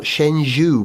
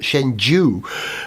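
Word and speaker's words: Shenzhou: man launcher is called shenzu shenhu it's actually pronounced not shenhu but shenu which I don't know what that means no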